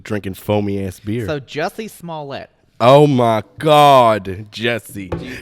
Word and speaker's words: Jussie: It's pronounced Jussie.